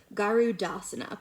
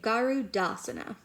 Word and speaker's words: garudasana: you can do it this is eagle pose garudasana please say garudasana now say it like you're not sure garudasana